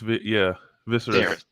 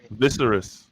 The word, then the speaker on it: Viserys: It's Viserys. I just hate how they spell these names, bro. I just hate how they spell it. Viserys.